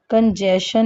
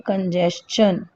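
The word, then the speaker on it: congestion: कंजेशन नहीं बोलते हैं, हम बोलते हैं कंजेशन, है ना?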